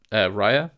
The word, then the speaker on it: Rhai: Um I knew about Rhai. I think I'm pronouncing that right, Rhai or h a i.